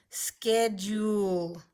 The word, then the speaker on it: schedule: schedule hey you busy makes the short e sound it's not following the basic rules sched you the e here gives power to this you to make the long you sound schedule schedule and our last word